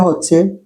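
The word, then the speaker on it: حاء: এই অক্ষরটা হা এর উচ্চারণে কোন আওয়াজ নেই। এটা এক ধরনের নীরব নিঃশ্বাসের মত শব্দ। মাখরাজ গলার মাঝখান গলার মাঝখান উচ্চারণ খুব হালকা। হ বাংলা হ টুট। টুট বা জিহবা কিছু নড়ে না। টুট বা জিহবা কিছু নড়বে না। যেমন হা এরকম একটা শব্দ হবে আর কি গলাটা একদম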